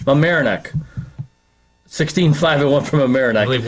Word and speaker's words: Mamaroneck: Mamaroneck. How do you say it again? Mamaroneck. Mamaroneck.